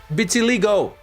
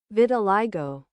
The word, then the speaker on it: vitiligo: Oh, vitiligo. Did you pronounce it? Vitiligo. Vitiligo. All right, it's vitiligo.